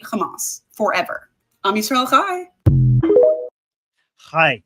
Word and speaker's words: Chai: Chai. So okay, it's not he, it's not he, it's something in between.